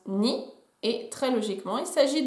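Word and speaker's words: 二: Le 2, ça se prononce ni.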